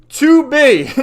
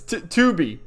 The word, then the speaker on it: Tubi: Tubi. No, it's spelled like weapons. Tubi.